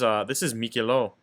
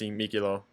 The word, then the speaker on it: Miquelon: So this is Mikilo. I think it's pronounced Mikilo. I don't think you pronounce the N because it's whatever.